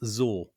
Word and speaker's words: X0R: I'm going to pronounce this Zor. All right. Okay. Go. X is a Z.